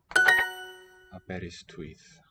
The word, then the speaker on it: Aberystwyth: Ystwyth. The W represents a vowel. Aberystwyth.